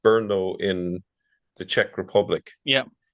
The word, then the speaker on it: Brno: If you go to I think it's pronounced Brno in the Czech Republic, yeah, yeah, and you